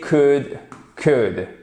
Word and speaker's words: could: et au participe passé, could. Donc, vous ne prononcez pas le L et ici, pour les deux, à chaque fois, je vais pas remettre 2 fois la phonétique, vous avez un O court.